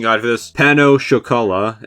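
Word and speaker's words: pain au chocolat: pronunciation guide for this, pano chocolat instead of panna chocolate, which is how I thought it was pronounced, 209 natillas, 208 Napoleon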